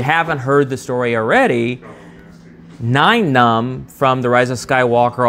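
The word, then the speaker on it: Nien: to pronounce the name I always said it incorrectly it's 9 like the number 9 right no no I used to call him Ian um I did what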